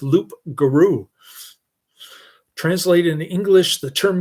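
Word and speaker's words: loup-garou: Lug garog is a mispronunciation of loup garou.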